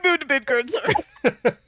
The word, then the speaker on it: Midgardsormr: They moon Midgardsormr. Anyway. So yes, you did pronounce it correctly.